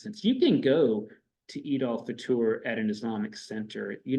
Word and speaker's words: Eid al-Fitr: Eid al-Fitr is, and these words are pronounced a little differently. Eid, sometimes you call this Eid al-Fitr. Usually that's a very Western pronunciation.